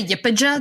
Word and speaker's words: YPJ: sorry why why pj it's a yipija that's how they pronounce it i stand those queens